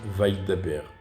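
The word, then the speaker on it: וַיְדַבֵּר: Par exemple, Vaïdaber. Il y a un shva sous le yud, mais on ne l'entend pas.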